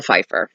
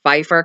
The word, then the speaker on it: Pfeifer: to Pipe Pfeiffer Ella I keep on and say pipe Pfeifer cuz it PF i F er but the P silent I keep mine to